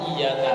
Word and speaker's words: iyyaka: Hanya saja banyak terjadi kesalahan baca di lafadz iyyaka na'budu wa iyyaka nasta'in. Kesalahan bahasanya itu di lafadz iya, malah dibaca ya tanpa tasydid, tanpa penekanan.